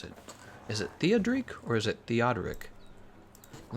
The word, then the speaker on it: Theodoric: Eric, did you know that the name Eric comes from the name, how do you pronounce it? Is it Theodric or is it Theodoric? Let me look it up again. Theodoric.